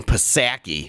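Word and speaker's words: Psaki: biden's press secretary jenn pasaki yeah condemning israel i'm not pronouncing the p she's an idiot condemning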